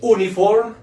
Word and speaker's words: uniform: resulta que resulta que esta palabra no se dice uniform dice uniform como nos